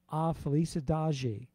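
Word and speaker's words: A Felicidade: i got my lovely wife to help me pronounce this correctly it's called a felice adagi and i think it means the happiness really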